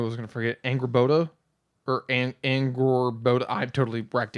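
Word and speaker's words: Angrboða: It's like Angrabora or something like that. Angrabora. Oh, that's pronounced Angrabotha. I think that's pronounced as a Angrabotha.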